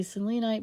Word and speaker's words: selenite: and yes i say selenite because it reminds me of the greek goddess of the moon cellini and in greek